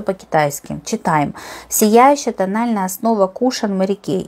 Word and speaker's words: кушон: Правильно говорить кушан, но многие говорят кушоны, кому как нравится, но правильно говорить кушан.